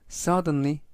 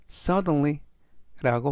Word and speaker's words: suddenly: 되겠습니다 이번 단어는 suddenly suddenly suddenly라고 발음하시면 되겠고요 이때 강세는 맨 앞에 있는 앞부분에 있는 알파벳의 강세가 있고요 품사는 부사 뜻은 갑자기라는